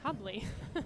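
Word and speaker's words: Hubly: I think I uh usually write down that it rhymes with bubbly so that's that's what that was anyway Hubley has played every single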